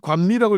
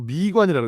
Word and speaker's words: 미관: 그게 관미라고 읽으면 안 되고 미관이라고 읽어야 됩니다.